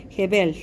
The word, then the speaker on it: jebel: Jebel, bonito, hermoso, guapo. Recuérdense entonces que siempre la L al final de cada palabra sería como una L sopladita, ¿verdad? Jebel.